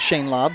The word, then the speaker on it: Shane Laub: Lowry's pronouncing it Shane Laub, so I'll go ahead and make the adjustment there on the pronunciation.